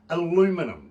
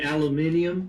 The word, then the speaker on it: aluminium: guys say for instance aluminum right and you say aluminium aluminium yeah absolutely i think you added an extra syllable in there british pronunciation yeah how